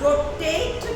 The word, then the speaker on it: rotate: अब यहाँ रोटेट में एंड में साइलेंट ई आ रहा है, इसलिए हम ए न बोलकर ए ही बनाते, रोटैट न बोलकर रोटेट कहते हैं।